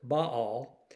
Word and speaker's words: Baal: Every vestige of Baal, some pronounce it Baal, will be removed, destroyed,